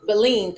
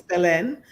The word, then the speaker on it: Belen: Beline, correct? Am I pronouncing that correctly? It's close enough. It's Belen.